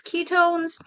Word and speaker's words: Qitone: And I came across a company called Ketone and it is spelled Qi Tone, but it's pronounced Ketone.